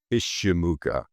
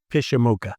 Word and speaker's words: Pyszczymuka: And It's Ukrainian in origin, and it's pronounced Pyszczymuka. Pyszczymuka.